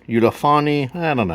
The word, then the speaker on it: Ulefone: probably yeah anyways so today I've got a ulone ulaon I don't know how you pronounce it's looks like Uli phone like UL phone but uh ulone 16 note